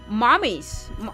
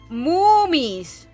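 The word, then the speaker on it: mummies: You need to say it like moomies. Like that, moomies. Like a cow, moomies. These are moomies. The other ones are mommies.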